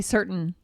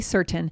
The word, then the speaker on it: certain: Oh, I definitely do the glottal stop. So I say certain. I wouldn't say certain.